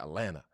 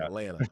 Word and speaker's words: Atlanta: Atlanta, Georgia, right? Because, you know, Atlanta and Baltimore are the only places where, you know, you don't even mention the T.